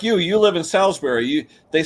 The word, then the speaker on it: Salisbury: But is it B-U-R-Y or B-R-E-E, the way you pronounce it? B-U-R-Y, Salisbury. Okay. Yeah. So like when you die, you get buried, not breed.